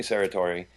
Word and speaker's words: Serratore: and I'm Bobbi Marquesa our special guest Sarah Tory is that the correct pronunciation yeah you got it right thank